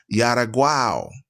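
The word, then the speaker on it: Xaraguá: The fourth kingdom was known as Yaraguao. Okay, it's spelled Xaragau.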